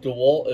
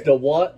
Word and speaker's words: DeWalt: What, did you know that DeWalt is DeWalt, the yellow silent? It's just a clown, dude. I mean, we have the right to do that. It's DeWalt, not DeWalt. DeWalt is silent.